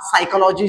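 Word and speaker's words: psychology: example आहे सायकॉलॉजी आणि हे सायकॉलॉजी शब्द वाचन करत असताना एस च्या अगोदर पी हे लेटर येत आहे लक्षात घ्या म्हणून आपण हा सायकॉलॉजी जो शब्द आहे तो सायकॉलॉजी अशा पद्धतीने वाचन करणार आहे त्याच्या त्याच्यानंतर आहे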